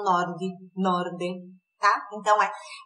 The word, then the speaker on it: nord: Norte é nord. Nord. Atenção à pronúncia. São poucas as palavras que terminam com consoante, mas se terminam com consoante, eles não tendem a colocar uma vogal como a gente tende a colocar, né?